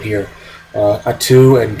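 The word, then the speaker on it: Attu: um alaskan islands of uh i have the pronunciation right here uh atu and kiska those are the two alaskan islands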